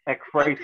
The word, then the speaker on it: Ekphrasis: I got some intros and interludes that kind of explain it, but it's Ekphrasis.